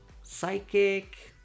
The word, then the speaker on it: psychic: If a word starts with PS, just ignore the P. Psychology, psychic, etc.